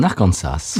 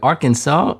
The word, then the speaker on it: Arkansas: Oui, il y en a un, on prononce le S à la fin, et l'autre, on ne le prononce pas. Oui, c'est-à-dire que Arkansas, on dit pas Arkansas.